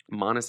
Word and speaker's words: Monis: it's a person anyway modest is pronounced like the word honest but with a silent t uh honest modest my